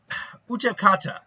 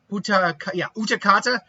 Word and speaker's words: Utakata: Utakata. Utakata. I just always went like Utaka or Utaka or something like that. Utakata.